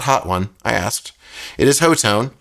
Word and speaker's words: Hotone: got it's a weird name I got the hotone which I do know that's how you pronounce it it's not hot one I asked it is hotone and uh this